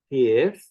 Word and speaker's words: pith: And so the vowel in this word should be a long vowel. Pith needs to have a long e sound, and therefore it needs to have what I would call actually a dotted quarter note. It's 3 times as long as a short vowel in Cornish.